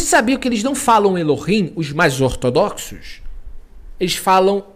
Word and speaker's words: Elohim: Então quando eles falam Eloim, eles estão falando de propósito errado para não falar Elohim.